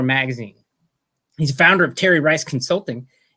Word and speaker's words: Terry Rice: I have with me today Terry Rice, rhymes with Jerry Rice, one of the greatest wide receivers of all time.